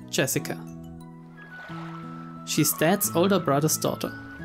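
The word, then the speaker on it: 朱志香: Anyway, it's pronounced Jessica.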